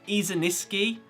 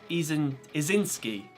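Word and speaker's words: Izinski: there I'm pretty sure I keep throwing an extra syllable on her last name I'm saying easy miss key but it's just easing is in ski right I like easy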